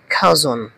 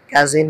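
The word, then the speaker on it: cousin: বা বান্ধবী enemy enemy শত্রু এনিমি শত্রু এটার উচ্চারণটা হবে খাজন কাজিন হবে না খাজন খাজন এটার উচ্চারণটা কি হবে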